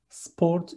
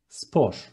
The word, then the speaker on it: spor: Next one, sport is spor. Letter T disappears, and it is spor.